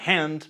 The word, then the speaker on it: hand: For instance, past is pronounced Pass. and hand becomes Hand.